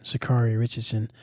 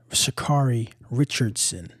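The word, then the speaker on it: Sha'Carri Richardson: Um, but uh, Miss Richardson, Sakari Richardson, um, Shakari Richardson, let me say her name correctly, um, was arrested at the airport um, in Washington for a domestic violence offense.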